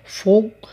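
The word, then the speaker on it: فوق: দক্ষিণ আল জুনুব দক্ষিণ ফোগ উপর ফোগ উপর আসলে এটা আরবিতে কফ কফ কে অর্থাৎ ককে আরবিতে ঘ এর মত উচ্চারণ করে ফোক আর তাহাত নিস তাহাত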